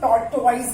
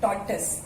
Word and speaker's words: tortoise: Total tortoises कुछ लोग इसको टॉर्टोइज बोलते हैं, which is not correct. टॉर्टस pronunciation is टॉर्टस, टॉर्टसेस।